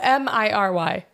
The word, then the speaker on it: Miri: Oh, Miry. Not Mary.